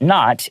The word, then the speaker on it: knot: Each knot is colored differently, so every piece is unique. 因为我们刚才讲了，它这个护身符呢是有很多的线这样的绑在上面的哈。它上面的每一个 knot，记得这个字的发音，那个 K 是没有发音的啊，就是它上面会打很多的结，可是它的每一个结很特别哦，colored differently，就它上面的颜色都完全是不一样的，所以呢，每一件制作出来的这个玉手都是 unique，都是独一无二的。